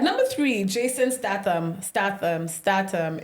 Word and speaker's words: Statham: three Jason statam Stam statam is that how you say his name yeah Stam Statham you know what I'll